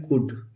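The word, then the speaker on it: could: कन क्या पढ़ेंगे कन सी ओ यू एल डी यह कुड नहीं पढ़ेंगे दोस्तों यह होता है कुड एल साइलेंट होता है क्या होता है कुड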